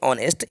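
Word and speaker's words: honest: अब ये जो वर्ड है ऑनेस्ट, इसमें एच क्या है, साइलेंट है। अब एच को आप छोड़ के पढ़ेंगे तो आपको साउंड जो मिलेगा वो आ का मिलेगा, ऑनेस्ट पर्सन।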